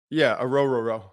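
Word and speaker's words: Orhorhoro: Yeah, Ororo.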